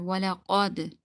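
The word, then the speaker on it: ولقد: Okay, they read kaf, simple kaf, but this is qaf, the thick qaf, so you need to read it thicker. Walaqad.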